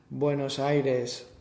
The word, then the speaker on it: Buenos Aires: better yeah yeah okay Buenos Aires Buenos Aires is a Spanish that's a Spanish pronunciation of that but if we're going to do it in an English way how would we do